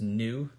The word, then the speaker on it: nu: the Greek letter nu which kind of looks like an italicized V right but it's pronounced nu and the frequency is